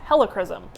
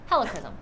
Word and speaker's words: helichrysum: That's how I pronounce it. I know other people pronounce it different. I say helichrysum.